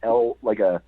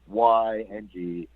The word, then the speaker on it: Lyng: So some people will put in Lying, but no, it's not. It's just Lyng.